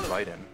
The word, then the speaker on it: Raiden: because that's the way it would be pronounced. You know, one that's a big problem. It's actually Ryden.